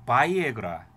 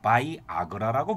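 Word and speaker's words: Viagra: 비아그라의 미국 발음은 바이에그라, 일본에서는요 바이아그라라고 부릅니다.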